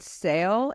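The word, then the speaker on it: Seyle: Charleston Architects Barbo and sale it's b a r b o t and then the other person was SE y l e so I don't know Barbo and sale is how yeah yeah Barbo sounds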